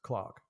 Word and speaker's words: Clerk: my now c-l-e-r-k a british person would pronounce clark and i'm pretty sure an american person would pronounce clerk right and you've listened to